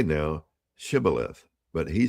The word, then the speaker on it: Shibboleth: Then they would say to him, "Say now, Shibboleth." But he said, "Sibboleth." For he could not pronounce it correctly.